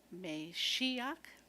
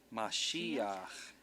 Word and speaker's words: Mashiach: Meshiach. Mashiach.